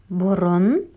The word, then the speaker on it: бұрын: Ғасыр, век, бұрын, раньше. Обратите внимание на слово «бұрын». Когда мы пишем «бұрын». А когда мы говорим, произносим, вместо «и» тоже говорим букву «о».